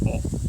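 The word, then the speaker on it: を: And it's not even pronounced what. It's pronounced o.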